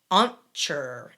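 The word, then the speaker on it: Ahntchur: a strange one but it's pronounced kind of like uncher a-h-n-t c-h-u-r okay i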